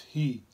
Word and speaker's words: he: the sound for the heart is heat like h e imagine your heart any